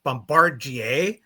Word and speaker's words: Bombardier: All right, the guys can't seem to pronounce things very well. It's Griffin and it's Bombardier.